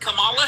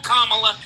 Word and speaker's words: Kamala: I have heard Camala Harris in this state. I live in California. I have listened I've heard her call Kamala for the last 10 years.